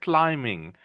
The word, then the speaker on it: climbing: I know there's a B in the word, but it's a silent B. We actually pronounce it without the if you say it, if you write it like you say it, you would write it like this. Climbing. That's how we say this word.